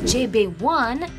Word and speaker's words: ZB1: a boy group second even when it is shortened to zb1 pronounced as jb1 the name still comes